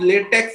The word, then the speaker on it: LaTeX: Spelling of latex, LATEX, LATEX, and the name is called LaTeX. It is based on the text pronounced as TeX, a typesetting language designed especially for the maths and science.